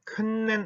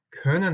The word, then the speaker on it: können: 큰맨 아니고 können 하고 읽었죠. 이거 zusammen 하고 있지 하고 있지 마시고 zusammen 자연스럽게 kommen, können, zusammen 이렇게 자연스럽게 읽으시면 됩니다.